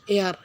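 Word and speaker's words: heir: উত্তরাধিকারী রাজা উত্তরাধিকারী হারিয়েছে এয়ার শব্দটি এইস কনসোনন্ট দিয়ে শুরু হয়েছে কিন্তু এর উচ্চারণ ভাওয়েলের মত হয়েছে তাই এখানে কনসোনান্ট থাকা সত্ত্বেও এ ব্যবহার হবে না। এখানে ভাওলের মত উচ্চিত হয়েছে বিধায় এর পূর্বে এন ব্যবহার করতে হবে।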